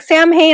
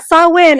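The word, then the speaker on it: Samhain: day about Halloween and he's like Sam Haye I'm like saw win and he looked at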